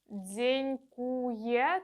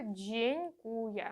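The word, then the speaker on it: dziękuję: ядьо і з носовим слово яке ви вже знаєте дзенькує джень Куя через ЖЖ а не через такого ніколи не буває дзенькує це неправильно не повторюйте правильно буде дзенькує ще один додатковий нюанс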